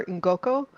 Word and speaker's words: Ngoko: It's like the African tetras I have are ngoko in Ngoko. And the only reason I feel comfortable even pronouncing that is because I've worked with a number of people who are from Nigeria and Uganda who helped me realize like the mouth feel of saying that NG Yeah, I was gonna